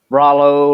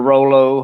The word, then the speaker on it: Rollo: One would be Rollo or Rolo, however you want to pronounce it.